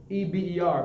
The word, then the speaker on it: Eber: Eber is spelled E-B-E-R, I believe. E-B-R. E-B-E-R. Understand? And later on, you can find it spelled H-E-B-E-R. Eber.